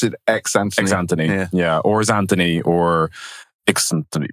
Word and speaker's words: Xnthony: So, sorry, do you pronounce it Xnthony? Xnthony, yeah.